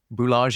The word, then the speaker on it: Boulanger: Bulaj is B O L A N. It's French for Baker.